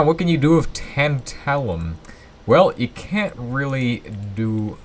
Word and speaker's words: tantalum: amazing it just works it's making tent tallium or tantalum as you can see tantalium is the proper way to say it obviously that's also the British way to say it we're calling it tantalum here uh well I've been calling it that the whole episode just because it's intentionally